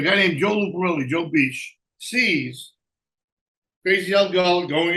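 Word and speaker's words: Pesce: P-S-C-H-B. Means fish, like Pesci. But they call it Joe Beach. P-E-S-C-H-E. Like it would say, it's fish in Italian.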